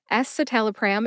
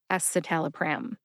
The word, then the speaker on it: escitalopram: for Celexa now let's talk about esaal pram esal pram is generic for Lexapro ESAT alpram has five syllables s satal a pram now if you